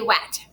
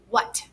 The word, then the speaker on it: what: Kind of makes a ha sound, what. So it's W-H, and then it ends in A-T, what, at. It can say at too, but we don't say wet. We say what, W-H-A-T.